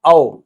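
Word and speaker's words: of: दोस्तों इसको ऑफ मत बोलिएगा, ये होता है औ। ठीक है, ऑफ तो ये होता है, ठीक है, ऑफ ये होता है, इसको हम प्रोनाउंस करते हैं औ।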